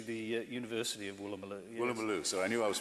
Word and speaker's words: Woolloomooloo: Woolloomooloo, so I knew I was pronouncing it.